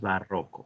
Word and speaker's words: barroco: Eso es barroco. Barroco significa complejo. Así que el barroco es un movimiento artístico, cultural que impactó en muchas artes. Y se pronuncia barroco, no barroco, ni barroco. No, no. Es grave.